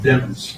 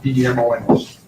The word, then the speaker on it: Demons: It's pronounced Demons, D-E-M-O-N-S. Lemon's with a D is the way it was explained to me.